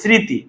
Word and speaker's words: স্মৃতি: যেমন ভাইয়া স্মৃতি লিখতে আমরা ম লিখেছি। বলতে কিন্তু সে মটা কোথায় মানে মর উচ্চারণ হয় না।